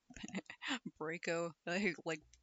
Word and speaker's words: Braco: But with the addition of two devious sentient motorcycles to the mix, Bellatrix and Braco, Braco, like braking, because it's a vehicle.